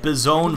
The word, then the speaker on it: Bison: I say it Bizone for a reason. I say it like it is spelled B-I-Z-P-W-N because own is a gamer term, derp.